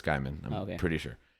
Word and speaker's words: Gaiman: It's one of my favorite That's how you pronounce his last authors. name? Yeah. It's not Gaiman? I'm sure it's Gaiman.